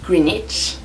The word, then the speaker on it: Greenwich: Et aussi je suis allée à Greenwich, donc Greenwich, ça s'écrit comme ça, donc Greenwich, mais on dit Greenwich, qui est le quartier, vous savez, où il y a l'observatoire du Méridien, voilà.